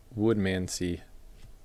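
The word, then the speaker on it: Woodmansee: 34 out of 50, paper, Colby Woodmansey. Pronounce it like it reads.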